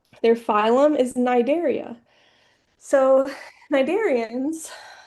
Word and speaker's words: Cnidarians: So, Cnidarians so that that first C is silent. Cnidarians um have soft bodies and they have nematocysts.